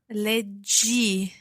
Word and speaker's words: leggi: Leggi. Okay, so there's no H or anything like that in there. It sounds as it does in the infinitive, leggi.